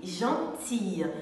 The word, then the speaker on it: gentil: y une femme gentille mais lorsqu'il est au masculin il s'écrit gentilly-2 son final est ici il se dit gentil un homme gentil au féminin le longines altaïr gentille mais au masculin le